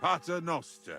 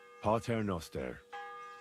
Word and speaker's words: Pater Noster: Aye, but Pater Noster, and your... You're saying it wrong. Listen. It goes like this. Pater Noster.